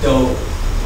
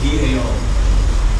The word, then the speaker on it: dao: All you have to do is substitute sao with the word do, D-A-O, S-A-O, D-A-O. Okay, or Dao. Dao will be the Mandarin pronunciation. Do will be the Cantonese pronunciation.